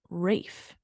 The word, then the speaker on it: Ralph: oh fun fact what it's actually pronounced Rafe really yeah Rafe findes that's crazy because I've been calling him Ralph oh me too and